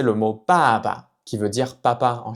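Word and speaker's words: 爸爸: C'est un son entre le B et le P en français, donc plus pa, pa, pa. On peut prononcer le mot baba, qui veut dire papa en chinois, baba, baba.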